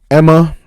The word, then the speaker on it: Aemma: Her mother, Emma, I think the A is silent.